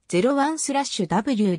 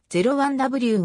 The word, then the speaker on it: 01/W: 採用している型番の読み方は zero1 スラッシュ w ではなくゼロ 1 w が正式であるとされている同社ヒット商品 m